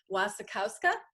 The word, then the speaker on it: Wasikowska: You've got Mia, and tell me if I'm pronouncing her name incorrectly. Wasikowska?